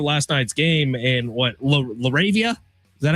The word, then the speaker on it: LaRavia: Uh, but you look at last night's game and what, Laravia, is that how you say his name?